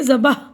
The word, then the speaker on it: ذبح: ذبح بھی آیا ہے، اس کا صحیح تلفظ بے اور ہے پر جزم کے ساتھ ہے، یعنی ذبح بے اور ہے کو ایک ساتھ پڑھنا ہے۔ ٹھیک ہے، اب دیکھیے